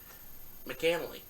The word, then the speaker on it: McAnally: You pronounce that. H-O. Shane McAnally.